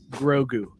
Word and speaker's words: Grogu: Drew, Grogu.